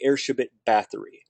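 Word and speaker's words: Erzsébet Báthory: And her name is Elizabeth Bathory, or the Hungarian pronunciation would be Erzsébet Bathory, right?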